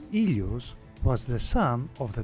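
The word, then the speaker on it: Ήλιος: to name a few overall Helios in Greek pronounced ilos was the son of the Titan God of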